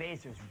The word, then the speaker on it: Acer: Acer's really, really fast. I'm really fast. Yeah, that's why we call him the Laser Azer. Well, that and his name rhymes with laser.